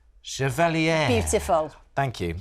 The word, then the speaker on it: Chevalier: hit film, I'm going to say this right, Chevalier. Beautiful. Thank you. It's Lucy Boynton. Beautiful pronunciation.